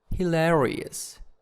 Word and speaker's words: hilarious: in these adjectives okay hilarious hilarious it's in the second syllable and next one is